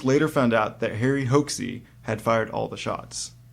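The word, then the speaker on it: Hoxsey: medical fraud named Harry Hoaxey. I hope that's really how you pronounce it, Hoaxey. Yeah. I think it's Hoxey, but it would be hilarious if it was Hoaxey.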